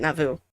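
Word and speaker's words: Navu: We learn Blue Rabbit's name is Nauvoo, N A V U. Nauvoo. I'm pronouncing it Nauvoo.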